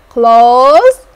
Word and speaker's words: clothes: so can you spell clothes great job you spell it correctly everyone close c l o t h e s close